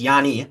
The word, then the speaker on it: Giannis: goes, he refers to Giannis as Yanni, which is, you know, I Good Greek would perhaps would it be in Greek? That's actually how you pronounce it in Greek.